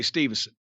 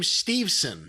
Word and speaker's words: Steveson: bum by the way stevenson that was that what did i miss anything i think they're pronouncing his name steveson not stevenson stevens steveson steveson oh